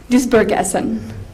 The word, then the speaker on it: Duisburg-Essen: Can you pronounce the? Duisburg-Essen.